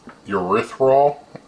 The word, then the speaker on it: erythritol: It's erythritol is basically how it's pronounced.